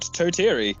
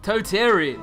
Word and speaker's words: Totiri: That is called Totiri. Totiri. Yeah, just Totiri.